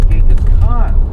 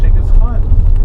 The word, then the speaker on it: Genghis Khan: And why do I always bring up Genghis Khan, whose title is pronounced as Genghis Khan? It's actually pronounced Genghis Khan.